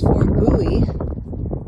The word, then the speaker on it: Fort Bowie: So this is pronounced Fort Bowie.